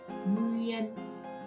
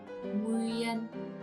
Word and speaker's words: Nguyễn: Now adding all these together, we got nguyen, nguyen, nguyen. And the tone, this curvy tone is called high rising broken tone.